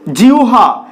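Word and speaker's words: জিহ্বা: যুক্ত অবস্থায় থাকে সেক্ষেত্রে এর উচ্চারণ হয় ইংরেজি ডব্লিউ এর মতন বা ওহ এর মতন দেখো এখানে বেশ কিছু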